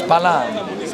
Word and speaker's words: Balaam: Bilam, or in English, Balaam. I don't know how they pronounce it in English. I've always been taught it as Bilam.